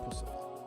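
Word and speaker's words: Puscifer: That is what Pussifer. P. Like Lucifer, but with P.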